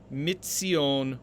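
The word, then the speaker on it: מִצִּיּוֹן: in the tiberian tradition this should read mitsion with a dagesh in the tsari the dagesh being evidence of the assimilation of the nun now the next word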